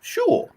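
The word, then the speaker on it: Schule: word yeah and school they say sure it's spelled s-c-h-u-l-e we say it like they spell it they spell it like we say it far out man how's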